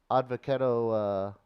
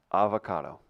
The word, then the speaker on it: avocado: You know, I was reading that Advocado. Who? Advocado. Advocado. Sound it out. Who? Avocado. Avocado. There you What go. did I say? Advocado. I said odd. You're Yeah. throwing in syllable.